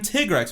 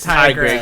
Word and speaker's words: Tigrex: trailer do not pronounce it like that it is it is tigrex it is tigress it's a hundred percent i am so upset